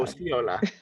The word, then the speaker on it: Osceola: Can you pronounce her last name for me? Uh, Osceola. Osceola, who's kind of a present day narrator in the film.